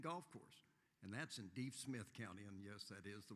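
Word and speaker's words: Deaf Smith County: Country Club and Golf Course, and that's in Deep Smith County, and yes, that is the way it's pronounced.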